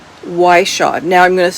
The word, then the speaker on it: Whishaw: Cove and it is written by Ionia Iona Whishaw. Now I'm going to spell that for you.